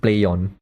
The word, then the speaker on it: Plaion: It's pronounced Plaion.